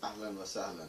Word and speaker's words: ahlan wa sahlan: Okay, The pronunciation part, like for instance, ahlan wa sahlan. So that's perfect. Ahlan wa sahlan. now, if it was written with the big A, you know, With the ha. with the ha, then how would you pronounce that? You stress on that. Ahlan wa yes. So basically, you're talking. First one is just from the mouth. The other one is actually coming from the throat, Yeah, from the bottom